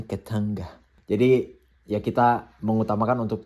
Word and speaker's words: Katunga: Bukan Katunga, dorang pronounce-nya di sini Ketanga.